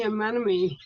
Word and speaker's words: anemone: This is the clownfish and the anemone.